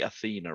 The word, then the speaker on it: Athena: I pronounced that right, Athena, right? Yes, Athena, as in the Greek goddess, and Massey is spelled.